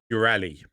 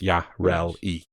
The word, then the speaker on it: Yareli: Next, new Warframe, Ureli. I'm so glad. Yareli. Pronounced Yarel-E. Ureli. Editor's note, pronounced Yarel-E.